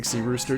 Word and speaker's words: Cyrus: It's spelled like Cyrus, but I say Sea Rooster, just take out the terror.